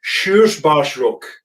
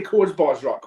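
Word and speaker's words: Körsbärsrock: You didn't say Korsbarsrock, which is the main thing, which has got a lot of people because it doesn't pronounce like it reads, which it can be confusing, especially when you're doing our job.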